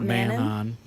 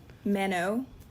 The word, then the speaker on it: Manon: Manon. Just don't say that in the end. Oh my god. The N is silent, the second one.